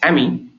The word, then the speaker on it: AMI: Then you have something called as AMI. I pronounce it as AMI.